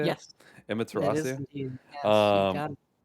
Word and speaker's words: Emmaterasuu: Yes, it is Emmaterasuu.